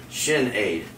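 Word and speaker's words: Sinéad: senate is an irish girl's name and it's pronounced shin aid oh janae um it's the irish version of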